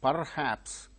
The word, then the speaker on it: perhaps: other day perhaps no perhaps why R sound when it is followed by a consonant sound it is not pronounced here R is followed by her so it's a consonant sound therefore R is not uttered so perhaps second cable